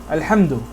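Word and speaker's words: الحمد: Here the alif is pronounced al-hamd, alhamdu. Okay? But when I have but now when it's in the middle of a sentence, see, this is the beginning of a sentence. When it comes to the middle of a sentence, like this is a lam with a kasra, lil hamd, with praise. Okay? Here this alif is ignored.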